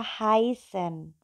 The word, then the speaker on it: heißen: Jadi kalau yang pertama adalah ketika huruf E ketemu dengan I, bila bertemu maka dibacanya adalah AI. Contohnya kemarin saya sudah kasih ya dari kata heißen, yaitu adalah contohnya gini, I heiße Kurnia, tapi tulisannya adalah I heiße gitu kan. Nah, bacanya bukan I heiße Kurnia tapi I heiße Kurnia. Jadi bila E ketemu I, maka dia akan menjadi AI gitu ya.